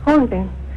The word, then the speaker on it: Sjögren: donde dijo que había que descartar Sjögren se pronuncia. Sjögren.